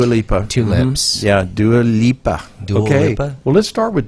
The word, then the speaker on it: Dua Lipa: castration oh yeah jeez just changed yeah nice pronunciation on do a lipa though i did do a lipo two lips yeah do a lipa okay well let's start with do alipa since